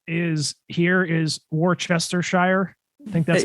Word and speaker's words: Worcestershire: It's spelled Worcestershire. That's how it looks. This has been a topic of hot debate amongst the podcasters here. I say it like that. I say Worcestershire, but there was hot debate. Let's put it that way. Some people actually say Worcester sauce.